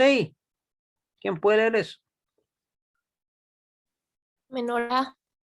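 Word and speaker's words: מנורה: Menorá. Menorá. Muy bien. ¿Ya? Con acentuación en la última sílaba, igual termina con una cap, con una kamatz, ¿cierto?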